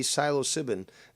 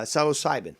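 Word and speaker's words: psilocybin: could potentially those be silo-sibin uh that's not even the proper pronunciation you know what i'm saying uh psalocybin there we go um could that be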